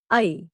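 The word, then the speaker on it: ऐ: इज the combination vowel आई इट इज a combination of the vowels a एंड it should be pronounced as a quick glide from a टू ई इट इट is used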